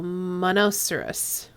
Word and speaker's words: monoceros: I'm L to believe it's pronounced like rhinoceros so monoceros okay no Watson does